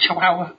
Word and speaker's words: chihuahua: I can't say that word. Is that right? Is it chihuahua? Yeah. Yeah. Okay, I've said it right.